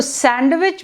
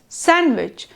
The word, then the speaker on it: sandwich: of a word like when we say sandwich this D is just not there so sandwich becomes sandwich or from the end